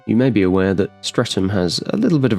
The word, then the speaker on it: Streatham: But the architecture remains A local joke about strutum used by those who would laughingly like to give it heirs and graces is that it's not pronounced strutum but centriam.